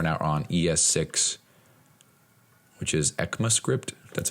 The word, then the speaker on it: ECMAScript: We're now on ES6, which is ECMAScript. That's how you pronounce it or say it.